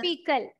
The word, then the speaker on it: faecal: fecal. Pronunciation is fecal.